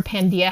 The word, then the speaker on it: Pandia: it and spell it pan is every and Dia is day we want to be